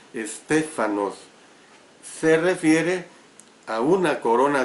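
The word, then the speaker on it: στέφανος: La palabra del idioma griego que se usa aquí es estéfanos, con S al principio y H intercalada, por eso lo pronuncio estéfanos.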